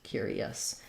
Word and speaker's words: curious: so for curious uh what's sometimes challenging here is the cure part that letter U has two sounds it's a yeah Glide and a cure and an ER it Glides into the ER sound so cure um first